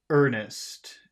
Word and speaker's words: earnest: How should you pronounce earnest? If the R will make the vowel sound longer, how should earnest sound? Earnest.